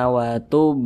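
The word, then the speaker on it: وَتُبْ: Kalau dia sukun atau karena disukunkan maka cara bacanya itu dipantulkan. Ini huruf ba, kemudian dia sukun, maka dipantulkan cara bacanya. Watub, mantul seperti itu. Watub, jangan dibaca watub alaina, nggak ada pantulannya, itu salah. Watub alaina, seperti itu.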